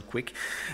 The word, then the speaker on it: kuik: image keeper or quick we try to make it pronounced like quick with a soft U but since I think for English speakers that's just weird we settled on quick so I'm going to